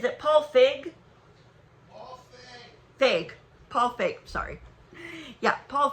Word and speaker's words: Feig: Feig.